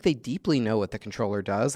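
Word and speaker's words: comptroller: between the con the controller and the comp troller and that's yeah the difference is the comp troller is how you say it if you don't know how to pronounce it Marine Corp so there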